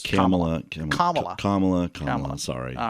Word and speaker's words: Kamala: our vice president's name it is not Kamala it is commala Kam sorry all right